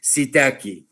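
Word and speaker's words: psittaci: pneumoniae and the clamidophila sitasi or some people pronounce it sitaki clamido fila pneumonia and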